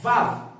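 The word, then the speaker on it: וָו: Só que o W tem o som de quê? Ó, Vav, Vá, Vav. Tem o som de quê? Tem o som de V, exatamente.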